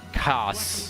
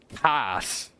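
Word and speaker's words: kaas: Or did I pronounce the S too much? Somewhere. What do you think is in It's more like cats.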